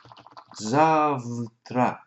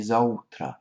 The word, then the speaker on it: завтра: Russian, a word there, завтра, but actually pronounced a little bit differently, завтра, завтра. And when you break that up, you can actually hear за утро, завтра, завтра.